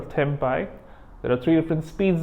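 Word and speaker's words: tempi: three different tempo and that's how you pronounce the plural temp I there are three different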